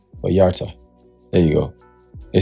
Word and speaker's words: Vallarta: Vallarta.